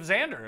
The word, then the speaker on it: Xander: it yeah Sean John I think there's a Z when you see Nexus Chinese and you see X I think it's pronounced Z alright so Joe that's just how good Xander safely it's a Z yeah alright so I